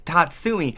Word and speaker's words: Tatsumi: you tell but yeah I'm pretty sure I've been pronouncing it wrong the whole video anyways it's Tatsumi now one thing I